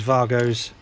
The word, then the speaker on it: WAGO: the boat use these vargos um all right it's spelled Wago but it's German so you pronounce it Vargo anyway enough of that